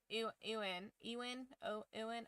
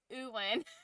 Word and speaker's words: Ewan: It's not that I don't even know how to pronounce, it's just that my brain wants to say Ian, and it turns into Ewan. Which is, I know is wrong, but I can't get it out.